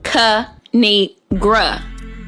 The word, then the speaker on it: Kinigra: It's pronounced Kanigra.